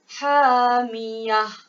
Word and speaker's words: hamiyah: Jadi cara baca dia hamiyatin tukar kepada hamiyah. Okey, ini bacaan yang betul. Hamiyah.